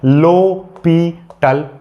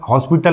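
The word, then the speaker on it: L'Hôpital: हॉस्पिटल, हॉस्पिटल मत बोलना है इसको, लोपिटल, यानी एच यहाँ पर साइलेंट है, लो है और एस यहाँ पर फिर साइलेंट है, ये साइलेंट है, ये साइलेंट है, पी और टल, ठीक है, लोपिटल, ये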